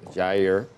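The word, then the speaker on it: Jair: your days a year you pronounce the J in Portuguese okay you do Yair volson R oh good job is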